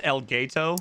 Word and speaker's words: Elgato: I'm sorry, it's pronounced Elgato.